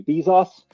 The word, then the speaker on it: Bezos: First one from our friend Jeffrey Bezos, or Bezos, depending on your preferred pronunciation.